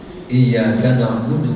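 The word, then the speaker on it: إِيَّاكَ نَعْبُدُ: Jadi iyyaka na'budu wa iyyaka nasta'in. Harus gitu. Sekarang banyak ya, kalau kita dengar itu bacanya bunyinya beda. Iyyaka na'budu itu keliru. Berubah maknanya itu.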